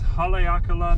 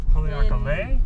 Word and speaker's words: Haleakalā: at that mountain it's so cool gray's gonna pronounce it for you no there we go this national park right here this is haleakala national park haleakala in maui and it's it's not the clearest